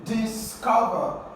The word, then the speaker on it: discover: Discover. For this word, the second syllable is stressed.